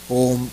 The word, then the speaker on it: ओम: भी बोलना है, तो म भी शॉर्ट नहीं होना चाहिए, ओम, ये सही हुआ।